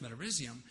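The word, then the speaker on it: Metarhizium: this fungus that they recommended called metarisium otherwise pronounced metarisium is an enimopathogenic fungus.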